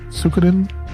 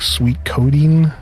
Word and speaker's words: Suikoden: Oh god, I don't want to pronounce this like how DSP does it. Suikoden? I think DSP pronounced like sweet codeine.